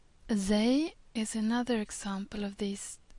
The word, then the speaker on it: Zay: Zay is pronounced as a normal Z in English, as in zebra, for example.